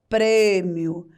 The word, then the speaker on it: prêmio: E quando nós pronunciamos a palavra prêmio, o som fica mais concentrado, ele fica fechado. Pre, pre, prêmio.